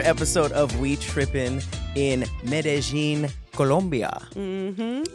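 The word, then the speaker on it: Medellín: of we tripping in medin Colombia mhm oh you said it right it took me the whole trip to stop saying medine I thought it was Med until like the last night but medine Colombia it's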